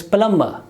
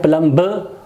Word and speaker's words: plumber: it will not pronounce its palamba palamba not plumba plumba so this is the